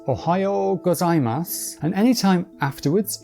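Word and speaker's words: おはようございます: Well if it's before 10am it's OHAYO GOZAIMASU and anytime afterwards it's KON NI CHI WA,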